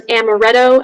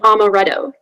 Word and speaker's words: amaretto: me amaretto okay um are there any ultra pronunciations uh yes there's amaretto and amaretto um and sorry this is a homonym uh so again amaretto or amaretto it's a noun meaning